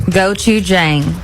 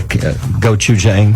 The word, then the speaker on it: gochujang: You may know how to pronounce this. I do. Okay, how do you say it? Gochujang.